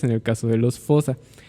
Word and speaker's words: fosa: curioso los malgaches y la palabra es fosa O sea que se pronuncia como fusa Qué te parece si